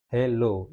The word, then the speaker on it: hello: Jadi silabel stress-nya adalah low ya.